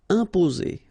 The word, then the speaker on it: imposer: Okay, remember, EM together like that, and a consonant after, you will get here the nasal sound. So it will go like imposer, imposer. Okay, only one S between the two vowels, so it's the sound Z.